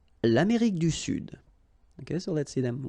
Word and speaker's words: sud: L'Amérique du Sud, here you should pronounce the D, sud, sud, okay? L'Amérique du Sud, all right? So one more time. L'Europe, l'Asie, l'Afrique, l'Amérique du Nord, l'Amérique centrale, l'Amérique du Sud.